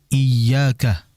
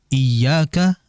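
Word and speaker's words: إِيَّاكَ: yang harus diperhatikan ee yaitu yang pertama iyaka Ya iyaka sedikit dihentakan ya agar membedakan antara ya yang tanpa tasdid dan yang bertasdid jadi dihentakan iyaka tadi yang dihentakan yang ya kedua yang yang pertama pun harus di e ee hentakan itu namanya nabr ya nabr itu hentakan jadi gunanya adalah agar huruf tersebut jelas bahwa padanya ada tasydid itu ya iyaka kemudian berikutnya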